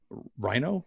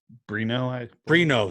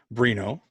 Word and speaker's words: Brino: And then Lorenzo Reno? How do you say that, Troy? Brino, sorry. That's a B. Brino.